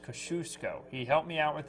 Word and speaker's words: Kosciuszko: Scott, one of our loyal viewers, we've been saying Kosciuszko. It's Kosciuszko. Okay. I mentioned that in Mississippi we call it Kosciuszko. It's a little different, but here it's pronounced Kosciuszko.